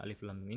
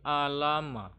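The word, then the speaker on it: الم: Jadi jangan dibaca a, i, u, la, li, lu, ma, mi, mu. Kalau kita baca seperti itu berarti alama. Itu salah ya.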